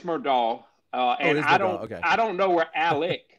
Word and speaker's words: Murdaugh: Where you look at Alex Murdaugh, am I pronouncing it wrong? Is it Murdaugh? It's Murdaugh.